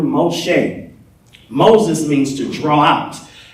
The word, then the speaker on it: Moshe: say this with me Moses pronouncing Hebrew Moshe Moses means to draw